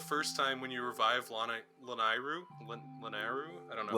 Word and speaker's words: Lanayru: well, if I it's like a- how you meet Zant the first time when you revive Lanairu. I don't know. how Yeah, it's pronounced. Lanayru.